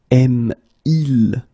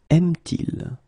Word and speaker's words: aime-t-il: For the same reason, we will put this T between the two. Parle-t-elle? Il aime. Aime-il? Will become aime-t-il.